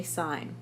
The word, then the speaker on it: sine: of a right triangle sign a sign is a trigonometric ratio abbreviated as sin except we don't call it sin we say sign but we write it as SI n sin cosine cosine is a